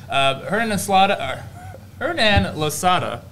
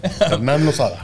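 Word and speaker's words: Hernán Losada: Hernan Losada. That's how you say it. Yeah, Hernan Losada.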